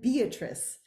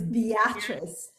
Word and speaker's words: Beatrice: for taking the time i just realized that i mispronounced your name i said beatrice but it's beatrice a beautiful name i